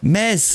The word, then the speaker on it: Metz: Le T ne se prononce pas. D'accord, Metz, d'accord, c'est Metz, ok, d'accord.